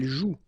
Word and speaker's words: joue: And it's exactly the same rule, so you've got this after, but then clearly you don't pronounce it, okay? Elle joue.